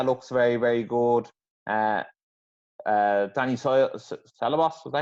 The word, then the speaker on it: Ceballos: Danny Ceballos, was that how you say his name?